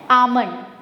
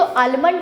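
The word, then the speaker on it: almond: So what is the right pronunciation of बादाम को अंग्रेजी में क्या बोलते हैं? आमंड। नेक्स्ट टाइम आप जब बोले तो आलमंड मत बोलना। It should be like pronounce as आमलंड।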